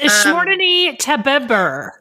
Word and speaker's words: Courtney Weber: Is it Courtney Teber or I'm not sure. It's Courtney Teber. It's that's very right. That's correct. Courtney Teber.